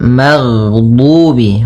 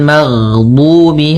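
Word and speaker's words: المغضوب: Jadi ketika melafalkan ghain, nafas kita tertahan, suara kita dialirkan.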